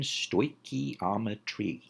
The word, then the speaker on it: stoichiometry: Phonetic pronunciation, stoichiometry.